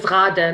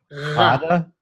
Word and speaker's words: Ghada: So I hope that, I can share the message with Ghada, share what our evidence. My name is Ghada, not Ghada.